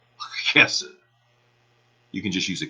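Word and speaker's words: חסד: There is the Hebrew word, looks like hesed, but it's actually pronounced with kind of a guttural CH, hesed.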